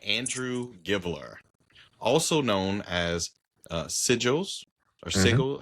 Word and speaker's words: sigil: Yes, we read Soul Fraud by Andrew Givler, also known as Sigils or Sigil. How do you say Sigils. that? It's sigil.